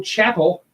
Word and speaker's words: Chapel: So also we have Bo Chapel. Found out how to pronounce that. He says, "Oh, it's chapel like the church."